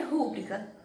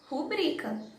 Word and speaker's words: rubrica: Mas como nessa palavra aqui, ela não tem acento no ru, então não pode ser rúbrica, tem que ser rubrica.